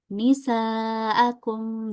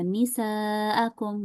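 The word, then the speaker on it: نساءكم: Ya, misalnya kita baca nisaakum ya, dua harakat aja itu salah. Yang betul nisaakum ya dibaca 4 sampai lima harakat ya.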